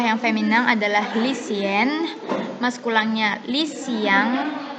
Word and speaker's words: lycéen: Contoh yang feminin adalah lycéenne, maskulangnya lycéen. Tahu ya cara perbedaan membacanya seperti ini. Feminin, lycéenne. Lycéenne. Untuk maskulang, lycéen. Lycéen.